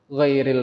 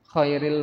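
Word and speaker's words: غير: Tetapi kalau bacanya khairil maghdubi 'alaihim, sebaik-baiknya, jadi yang kita minta adalah jalan sebaik-baiknya orang yang engkau benci. Gara-gara kita salah mengucapkan.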